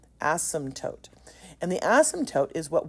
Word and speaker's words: asymptote: That's how it's pronounced, asymptote. The p is silent, asymptote.